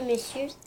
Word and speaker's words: monsieur: on n'aurait pas dit monsieur. Mais c'est comme ça que ça se prononce. Avant, ça se prononçait mon cœur. Parce que c'est M-O-N-S-I-E-U-R. Monsieur. Mais en fait, on le prononce monsieur.